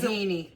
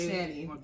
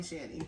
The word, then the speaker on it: Shani: She says Shahini when she's in front of people and she wants them to say it right. But in the house or around family, it's Shani. Everybody calls me Shani.